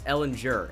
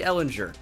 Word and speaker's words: Ellinger: It's Ellinger, and I was saying Ellinger all of last season, of course, when he was a freshman, but I hear it's actually Ellinger, and then they say it wrong on every broadcast, as